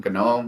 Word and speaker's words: GNOME: But the hard G in GNOME, which mm, is 100% correct, um, there are ways to solve that problem as well.